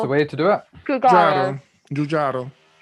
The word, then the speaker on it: Giugiaro: Giugiaro. Giugiaro. Designed by Giorgetti Giugiaro. Oh God. Very well done. That's scary, the pronunciation.